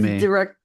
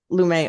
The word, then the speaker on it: Lumet: It was his Lumet. Lumet.